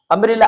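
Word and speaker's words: umbrella: अम्ब्रेला आ का sound दे रहा है, जाहिर सी बात है वाउल साउंड है, तो अब इसके पहले एन लगा देंगे, एन अम्ब्रेला।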